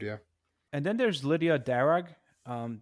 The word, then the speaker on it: Darragh: And then there's Lydia Darragh, um d a r r a g h. I assume the h is silent, Darragh.